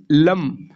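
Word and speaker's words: लं: अगर आप देखेंगे जो बीज मंत्र है, मूलाधार चक्र का बीज मंत्र, वो लम, ये अंगी बिंदी है, इसका प्रोनाउंसिएशन ल के बजाय लम, तो लम करके इसका वाइब्रेशन लेके आना होगा।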